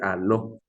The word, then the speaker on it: aló: No es jaló, ¿no es cierto? Porque si usted está diciendo jaló, recuerde que si usted dice jaló, no, está diciendo ceniza y no está representando el glótico de eso, ¿no es cierto?